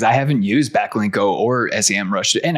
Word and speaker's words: Semrush: Backlinko or Semrush, and I keep calling it Semrush, even though you educated me on that. Yeah, I know. Me too. I used to always call it Semrush. I only recently discovered they actually pronounce it Semrush.